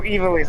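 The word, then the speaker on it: Ivalice: Oh, Evilise, that's how you say it.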